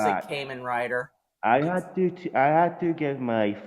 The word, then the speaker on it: Kamen Rider: and whenever somebody would whenever somebody would say Kamen Rider wrong, they'd always say Karma Driver. Or, if you like people in Scotland, they say Cayman Rider.